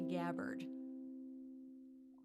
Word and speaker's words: Gabbard: is better than one I should mention that I pronounced your name wrong but I needed to for this song it's actually gabbard okay well that was